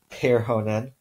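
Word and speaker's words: perhonen: a word that way for example in Finnish they have the word for donkey ah si and the word for butterfly pear Honan and the word for distance volley matka where each of those first syllables is stressed because in Finnish this dress is always on the first syllable of a word so in Finnish if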